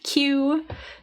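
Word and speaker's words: queue: can see here that the spelling is very interesting so this word is pronounced as Q they are queuing um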